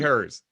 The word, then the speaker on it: Herz: is do we go hers or hertz dj hers great well thank you thanks for joining us